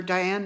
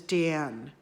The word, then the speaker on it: Diane: Her parents pronounced her name in the French way, Diane. So she wasn't Diane, she was Diane.